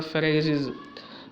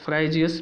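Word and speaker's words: Phryges: Olympic लिए, Olympic the फेराइजीज। अब देखिए ये इसका मैस्कट का नाम क्या है, फेराइजीज, प्रोनाउंस्ड एज फ्राइजियस, पेरिस में बोला जाएगा इसको।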